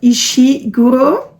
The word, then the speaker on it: Ishiguro: For a fate or prophecy related book, I will read Never Let Me Go by Kazuo, how do you pronounce that? Ishiguro.